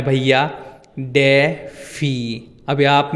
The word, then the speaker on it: DeFi: मैं रुक नहीं हूं एक्चुअल में टोपी का नाम डिफाई ही है अब बेसिकली एक